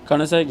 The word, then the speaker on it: Koenigsegg: No matter if you drive a shitbox or if you drive a fucking Koenigsegg. Did I say it right? Man, did I say it right? Koenigsegg. Koenigsegg, yeah.